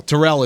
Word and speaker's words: Terrell: trayvon diggs over aj teller or i think it was teller i keep saying i think i might say his name wrong but tyrell terrell is his name last year so aj